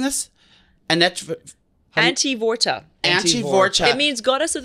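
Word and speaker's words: Antevorta: This is, how are we pronouncing this? Antivorta.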